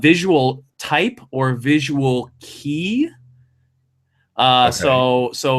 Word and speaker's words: kei: visual type or visual kei. So it's I think it's KEI, and it probably is pronounced something similar to key.